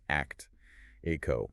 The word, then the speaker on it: ACTIQO: It's spelled ACTIQO, pronounced ACT, ACO.